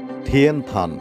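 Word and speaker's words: 天坛: চীনা ভাষায় এর উচ্চারণ থিয়েন থান এবং এর ইংরেজি টেম্পল অফ হেভেন।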